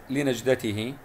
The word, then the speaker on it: لنجدته: نلاحظ كلمة لنجدته فيها مقطع ساكن، نج نج، دائما السكون نقرأه مع الحرف الذي قبله، وتنتهي بالهاء لنجدتي هي، وليس بالتاء المربوطة. ونميز بين الهاء والتاء المربوطة